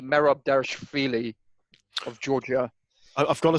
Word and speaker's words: Dvalishvili: Merab Dvalishvili of Georgia. I've got to say, Merab Dvalishvili. How do you say it? Derivashvili or something like that.